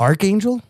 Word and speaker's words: Archangel: How do you say that? Is it Arch? It's Archangel. It's Archangel. Yeah, but there's a CH in there. But it's CH. Archangel. But this should make it a K, you fucks.